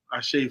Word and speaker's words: Ashe: I was going to bring up the fact that the man's name is spelled A-S-H-E, Ashe. Yes, sir. And most often pronounced Ash, but Majumbe is an amazing brother.